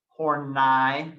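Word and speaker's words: Karen Horney: karen hornai please pronounce it with the proper pronunciation horn i thank you very much her research was based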